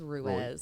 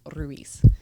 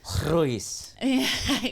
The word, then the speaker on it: Ruiz: White person says Ruiz. What is it? But in Spanish, it's pronounced Ruiz. Ruiz.